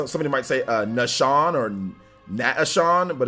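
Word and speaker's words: Naeshaun: But yeah, N-A-E, that'd be like Nay, and then S-H-A-U-N, Sean, so just Nashawn, you know. But I can see how somebody might say Nashawn or Nashawn, but it's just no, Nashawn.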